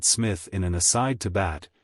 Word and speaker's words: Psmith: are you I am Smith said the old eonian reverently there is a preliminary P before the name this however is silent like the tomb compare such words as